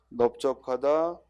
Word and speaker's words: 넓적하다: 우리가 원래 넓다는 리을로 발음해야 되는데 비읍으로 발음하는 게 세 단어 있다고 그랬지? 그 세 단어가 뭐예요? 넓적하다, 넓죽하다, 넓둥글다.